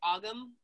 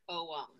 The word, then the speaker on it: ogham: lot of people say ogham um even you know strong british accents i found a lot of uh people who pronounce it as ogum but in irish it is actually pronounced om um so the om